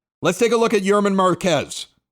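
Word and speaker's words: Germán Márquez: Let's take a look at Yerman Marquez. Looks like German when you punch it in there, but that's not exactly how he pronounces it.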